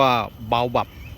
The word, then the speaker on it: baobab: ภาษา ไทย นะ ครับ ก็ จะ ออก เสียง ว่า เบา บับ นะ ครับ ก็ สะกด อย่าง นี้ นะ ครับ B A O O นะ ครับ ก็ น่า จะ ออก ว่า ออก เสียง ว่า เบา นะ ครับ ส่วน bab นะ ครับ ก็ แบบ นะ ครับ บับ นะ ครับ ก็ ประมาณ นั้น นะ ครับ เหมาะ สำหรับ ราย